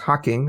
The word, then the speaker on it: Hocking: I think it's pronounced Hocking. I forgot to ask you about that. So sounds correct. Would you shaking your head? Yes? Yes.